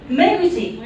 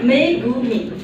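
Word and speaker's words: Megumi: त्यसै गरेर miss मेगुची, miss मेगुची, मैले अघि नै सरी मागेको, यहाँनिर काम लागिहाल्यो। यदि मैले मिस्टेक गरेँ भने माफी दिनु होला भनिरहेको थिएँ। उहाँको नाम मेगुमी है, मिस मेगुमी।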